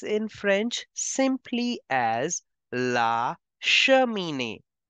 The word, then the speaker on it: cheminée: There is CH, so we have to make the sound of sh. And in the end, there is accent over the E, so we have to pronounce it as A.